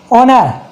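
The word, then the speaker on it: honour: ऐसे हो गया ऑनर।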